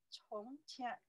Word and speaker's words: 从: 从天, 从, only say 从, you see here, 从, C-O-N-G, the second tone, 从.